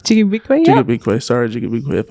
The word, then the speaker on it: Ji-gaabiikwe: Ji-gaabiikwe, yeah.